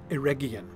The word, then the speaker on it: Eregion: And I'm going to try to pretend that Gandalf didn't just say Eregion, because of course it's pronounced Eregion. With a hard G, as is, for instance, and somewhat confusingly, the name Region on the Silmarillion map.